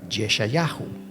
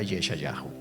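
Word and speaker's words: ישעיהו: nombre era en realidad yeshayahu Así se pronuncia en hebreo su nombre o sea se fue traducido al griego y luego al español como Isaías pero en realidad su nombre era yesha Yahoo Y eso lo que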